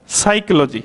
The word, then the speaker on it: psychology: है कि अब दोस्तों हमने इसको साइकोलॉजी पड़ा है मैं इसको पर साइकोलॉजी तो हमने नहीं पड़ा क्यों नहीं पड़ा क्योंकि यहां पर पी लेटर जो है वह क्या है साइलेंट है तो साइकोलॉजी हमें यहां